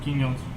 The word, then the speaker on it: Quinones: I believe, check that actually, got the name wrong last time. It will be Jericho Quinones. Yeah, exactly, Quinones.